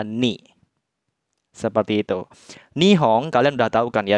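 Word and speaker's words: 日本: jadi kanji mataharinya dibaca omyominya ya Minahasa Jadi dibacanya nih seperti itu nihong kalian udah tahu kan ya Minasa nihong itu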